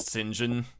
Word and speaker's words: St. John: Uh it's spelled out St. John St. period John. But uh I believe it is in fact uh pronounced Singinjen uh because of the way names make no sense in English and English.